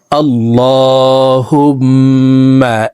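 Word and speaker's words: الله: মোনাজাতটি মুখস্ত হয়ে যাবে আল্লাহুম্মা ইন্নাস আলুকাল জান্নাতা দেখুন এখানে আল্লাহ এইলামকে ল বলে অর্থাৎ মোটা করে পড়তে হবে লামের উপরে খারা জবর আছে উপরের দিকে ধাবিত করে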